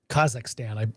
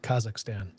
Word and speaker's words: Kazakhstan: Kazakhstan, I pronounced that wrong, Kazakhstan.